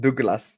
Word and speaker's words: Douglas: I fully put it on the thing and it's pronounced Douglas.